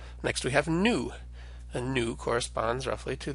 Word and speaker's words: nu: that V sound so we should always remember to pronounce our new as an N an example of a